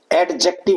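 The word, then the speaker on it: adjective: एडजेक्टिव नहीं, एडजेक्टिव, D silent होता है, तो इसकी भी स्पेलिंग आती है।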